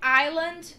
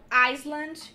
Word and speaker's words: island: O correto aqui é island e não Iceland. Esqueçam que esse S existe, então island e o segundo isle.